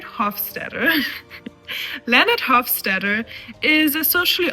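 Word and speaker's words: Hofstadter: First, we have Leonard Hawketter. I always say his name wrong. Leonard Hoffsteader.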